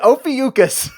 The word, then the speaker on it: Ophiuchus: It's the Ophiuchus. Yes, I know I pronounced that right because I looked it up and checked out the phonetics. Hooked on phonics. Anywho, the Ophiuchus.